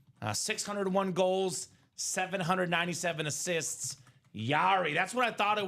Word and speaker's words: Jari: Yari as well, Chris. I was second guessing myself. Yari on that beautiful hockey helmet. All right. Very nice. Yari as if Yari, but it's spelled J A R I.